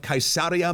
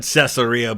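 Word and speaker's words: Caesarea: Yet perhaps his greatest achievement was the city of Kaisaria Maritima, a port city on the Mediterranean built on a coast with no natural bays or ports. I I said Cesaria, but the way he pronounced it is closer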